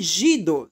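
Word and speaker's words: zsidó: Ela tem cinco possibilidades que esse gido, zido, né? Só pronuncia gido no húngaro, que quer dizer judaico.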